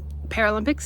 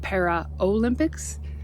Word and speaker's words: Paralympics: held the same and Paralympics is spelled Paralympics p a r a l y m p i CS there's no o it's not para Olympics um some people maybe